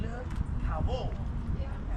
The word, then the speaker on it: Le Caveau: The correct way to say it is Le Caveau. Le Caveau. It means like the French. It's French.